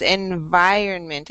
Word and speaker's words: environment: In English, the V says va, va. It never says ba, ba, ba. So this word is environment.